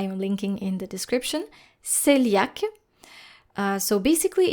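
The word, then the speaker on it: cœliaque: the French language here there are always exceptions in words such as selak you can see the spelling in the article that I am linking in the description selak uh so basically it's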